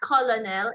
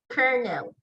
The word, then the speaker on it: colonel: It's not colonel, it's kernel.